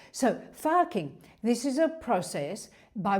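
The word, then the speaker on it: FARCing: It's spelled F-A-R-C. But because I'm Australian, I can't say the R like Americans say the R. So farking, this is a process by which you change.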